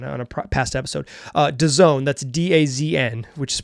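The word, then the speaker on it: DAZN: these games on on a past episode uh Doone that's da AZN which is pronounced Doone amazingly I love American branding it's very stupid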